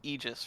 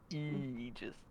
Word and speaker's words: Aegis: Your name is pronounced Aegis, right? Yeah. Yeah, but when I say Aegis, I feel like I'm making fun of your name because it's spelled Aegis to me. Yeah. So I I guess just feel like I'm making fun of you when I pronounce it correctly.